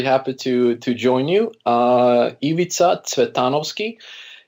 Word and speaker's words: Ivica Cvetanovski: to to join you Eva Titano ski is the I believe the the correct pronunciation it originates from Macedonia and born and raised